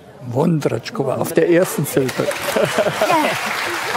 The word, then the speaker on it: Vondráčková: ich wissen wollte, weil es gab zwei Aussprachen Ihres Nachnamens und ich habe immer gedacht, der Akzent auf dem A muss doch bedeuten Vondratschkova. Und deswegen habe ich gedacht, nein, stimmt. Falsch, Vondratschkova? Vondratschkova.